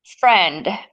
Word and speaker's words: Phrend: Friend, but it's spelled Phrend. And so Thren, friend, in Greek, I'm Greek. So Hmm. in Greek means mind or brain.